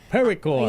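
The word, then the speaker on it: petrichor: Pericore.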